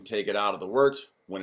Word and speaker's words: wort: It's pronounced wort.